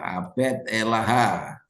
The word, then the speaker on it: Abed Elaha: Nah, ini abdi Elaha, abed Elaha. Abdi Elaha, bacaannya Abed Elaha.